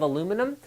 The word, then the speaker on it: aluminum: criticize my pronunciation of aluminum yes i know aluminium is also correct but it should be